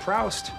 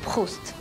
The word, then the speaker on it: Proust: Look, it's not Proust. It's pronounced Proust.